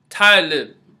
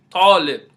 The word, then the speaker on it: Talib: Many people in Islam who are named Talib, you hear people say Talib, but it really should be pronounced Talib. Talib means student.